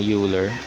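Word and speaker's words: Euler: Halimbawa ano hiningiin tayo ano raw ang derivative ng uler pala tawag dito i for hindi ko alam kung tao yung pronunciation ko but yan ra to let's say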